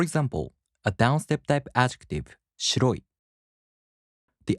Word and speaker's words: 白い: In the downstep type adjectives, the accent falls on the second to the last mora. For example, a downstep type adjective, 白い.